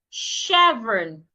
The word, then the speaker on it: chevron: Another one, chevron. The CH in that word also should be sounded like SH. Chevron.